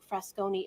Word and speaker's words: Frascone: Fresconi is spelled Frascone.